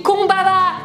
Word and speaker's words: combava: Il a, on dit combava, combava.